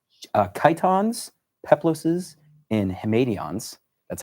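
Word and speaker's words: chiton: we have are three different things they're called Kiton peploes and Hons that's how you pronounce them actually I didn't think it was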